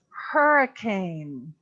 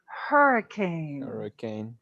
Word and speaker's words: hurricane: h that's pronounced so hurricane does not come from french we're gonna pronounce that h okay but very nice